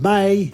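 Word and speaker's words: Mei: English the month of May is may may may it's pronounced very similar but the spelling is different the Indonesian word for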